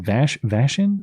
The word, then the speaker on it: Vashon: on April 8th at an event at the Vashon Center for the Arts. How do I pronounce that, Seattle City? Is it Vashon?